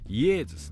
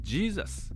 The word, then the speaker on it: イエズス: あの辺りももちろん J の音は Y で発音しますからイエズスなんですだから日本に昔来たイエズス会ってのはあのイエスつまりジーザスジーザス界だった